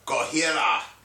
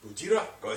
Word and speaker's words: Gojira: Remember a couple weeks ago we were talking about Gojira? Gojira. Yeah. I'm pronouncing it wrong again.